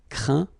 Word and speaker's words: craint: Okay, and as usual, final T here is not pronounced, so you get craint, contraint, plaint.